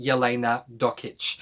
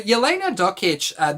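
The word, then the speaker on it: Jelena Dokic: So her name is pronounced Yelena Dokic. So Yelena Dokic, this is an adult memoir, by the way, adult non-fiction memoir.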